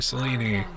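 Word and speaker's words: Selene: It's Celine. Whichever threat we face, Or Celine, depending on what your pronunciation preference is.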